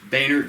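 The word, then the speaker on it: Baynerd: Baynard, B-A-Y-N-E-R-D. I don't have to spell it. Oh, I'm sorry. Right, Boehner's fine.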